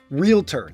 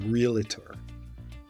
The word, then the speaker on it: Realtor: and our member is called a realtor two syllables realtor there is no such thing as a realtor Coe Coe stands for